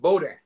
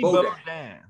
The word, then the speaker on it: Bodin: Bodin. You got to get it right. Huh? Cajun name. Bodin. Bodin. Pronounced Eddie Bodin.